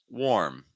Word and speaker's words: warm: next pair we have warm warm that's the first word the root is like for instance war war warm War warm the next one is